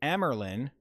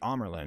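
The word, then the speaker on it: Amyrlin: They're calling the Amerlin the Amerlin. It's the Amerlin.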